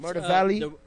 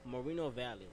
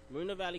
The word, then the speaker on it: Moreno Valley: It's, Murder Valley? The proper pronunciation is Moreno Valley. Moreno Valley, California.